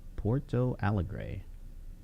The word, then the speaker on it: Porto Alegre: Porto Alegre.